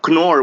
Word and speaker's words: Knorr: it's in it's pronounced conor not nor or yeah yep it's the beauty of the german language you have to pronounce every letter it's like pinoy oh